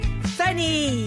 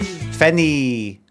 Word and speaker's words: Finnie: That was said there in a way that me is meant to rhyme with Finny. Do you know what people would say Finny in a way that rhymes with me? Roughly roughly speaking English people.